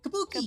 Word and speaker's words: kabuki: This is how you say kabuki. Kabuki. Kabuki. Kabuki. Cohen. I love Kabuki. It's been ages since I saw it, but I love Kabuki. I want to go back. I think the Kabuki performance I saw was the Naruto Kabuki performance.